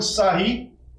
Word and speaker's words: Sarrus: Para fazer o cálculo desse determinante, por Sarri, escreve-se Sarrus, mas pronuncia Sarri, você vai pegar sempre, partindo da diagonal principal, 1 vezes 5 vezes 9.